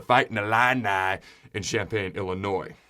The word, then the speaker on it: Illinois: the illini in champaign illinois where the s is silent all right so these